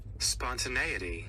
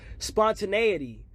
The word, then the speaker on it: spontaneity: want I get to look at how it's pronounced and what it even means. Spontaneity. Spontaneity.